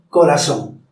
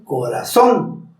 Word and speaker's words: corazón: Por ejemplo, no se dice corazón, se dice corazón. Como escucha, se sube la voz en son.